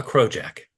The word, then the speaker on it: crossjack: being done to say that looks like a crow Jack A fitting for rigging a ship and I don't want to forget that so I write it down unit three grow Jack and that's spelled crossjack by the way and that way I